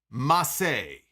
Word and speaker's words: Mace: his first client but mace is no longer mace oh no no mace is no longer mace mace is now massey so spelled the same way but it's now massey massey and he walked